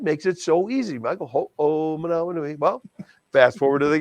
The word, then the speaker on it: Ho'omanawanui: He says, Michael, ho oh manawa nui. Ho oh manawa nui. God, that makes it so easy, Michael. Ho oh manawa nui.